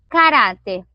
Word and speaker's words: caráter: E aí, caráter, a penúltima sílaba é a mais forte. Basta que seja a penúltima mais forte para ser acentuada? Não. Além da penúltima ser a mais forte, caráter termina em R.